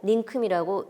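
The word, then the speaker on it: 닁큼: 의를 포함하고 있는 자음을 첫소리로 갖고 있는 의자, 느이로 발음하지 않고 이로 발음해서 니로 발음을 하기 때문에 늘릴이라고 쓰고 닐릴이라고 발음하는 것이 맞습니다. 이 닝큼도 이것도 틀린 글자 아니야 라고 생각하시면 안 됩니다. 이게 맞는 표기입니다. 자, 닝큼이라고 쓰고 닝큼이라고 읽고 있습니다. 발음에 맞게.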